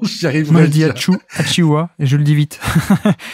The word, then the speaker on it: Achiuwa: Achuya. Non, Precious Achiuwa n'est pas là. Non. Comment tu dis, toi? J'arrive jamais à prononcer son nom. J'y arrive. Moi, je dis Achiuwa et je le dis vite.